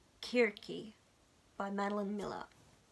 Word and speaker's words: Circe: I looked up the pronunciation of this. It is Kirki by Madeline Miller.